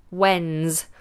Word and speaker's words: when's: one is when's when's I hope you're making note of when these s's are sounded like Zed's when's when's means when is